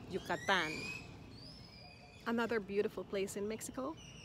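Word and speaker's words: Yucatán: do you say it yukatan yukatan the emphasis is on the last syllable because that's where the a is yucatan another beautiful place in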